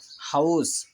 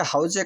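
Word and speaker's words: حوض: এখানে একটি শব্দ উচ্চারণ হয়েছে হাউস। আমাদের গাঁও গ্রামের যে সমাজ, সেখানে কিন্তু অনেক খাতিরে আমরা অতি সংক্ষেপে দোকানে পারে বসে বলে ফেলি যে আমাদেরকে হাউজে কাউসার দেওয়া হবে।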